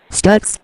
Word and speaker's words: Stux: Stutz, it rhymes with ducks.